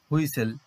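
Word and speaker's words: whistle: তারপর আছে ট্যাকেল, আরো কিছু উদাহরণ দেখো, কাসেল, কাসেল, এখানে টি সাইলেন্ট থাকছে, হুইসেল, এখানেও টি সাইলেন্ট থাকছে।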